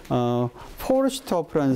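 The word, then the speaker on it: Forsthoff: 근데 우리 그 책에도 나오지만 급부 행정법의 이론을 완성한 사람이 포르슈트호프라는 사람이 있어요. 포르슈트호프. 포르슈트호프. 이 S는 T 앞에서는 쉬로 발음하잖아.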